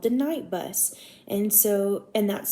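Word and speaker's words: Knight Bus: to him called the night bus and so and that's spelled with a k not just n-i-g-h-t but k-n-i-g-h-t and so the night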